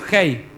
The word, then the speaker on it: Hey: es la letra Hey, que se pronuncia como Hey con J, pero con un sonido de la J más suave. Y esta es la quinta letra del alfabeto hebreo, Hey.